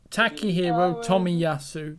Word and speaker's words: Takehiro Tomiyasu: Oh, well, Oh, it's not that bad actually to pronounce that. It For sounded like Timusui, so it's not. Takehiro Tomiyasu.